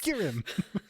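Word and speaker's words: Skirim: along the skirm river not the Skyrim River the Skyrim river which is it spelled the same no okay it's s k i r i m it's so close it's skirm along the skirm river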